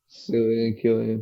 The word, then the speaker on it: Cillian: I think that's how you pronounce his name. Killian.